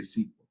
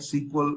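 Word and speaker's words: SQL: structured query language right often we don't spell it out like this big way or just say sequel or a sequel and you should be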